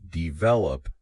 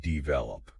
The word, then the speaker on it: develop: it for instance develop we say develop not develop that's right stressing the right